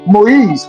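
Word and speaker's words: Moïse: Now that same spelling of mo with the I with two dots on top changes and becomes what? Moise.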